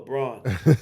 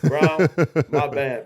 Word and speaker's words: Braun: I always been calling this young fella Braun. Brown, my bad, man.